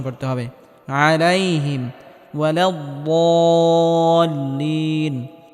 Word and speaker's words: ولا الضالين: আলাইহিম ওয়ালাদ্দাল্লিন, এখানে বদটিকে মোটা করে উচ্চারণ করতে হবে এবং হালকা আওয়াজ জারি রেখে উচ্চারণ করতে হবে।